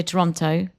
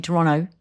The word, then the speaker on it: Toronto: And I say Toronto. And they miss out the T, Toronto. Yeah, I have caught on to the Canadianism of Toronto because I just say